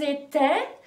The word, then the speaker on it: étaient: Ah oui, alors, ils étaient AIENT.